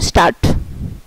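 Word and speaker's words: Start: আর এখানে এস পরে কনসোনেন্ট আছে তাই এটা তালিবাস স্বর মতো, যেমন স্টার্ট, এটাই। তারপর হচ্ছে ভি, শব্দটি জার্মান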